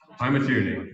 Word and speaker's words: Pymatuning: I'm not going to try and pronounce this. Well, maybe I will. Pymatuning? Pymatuning, thank you.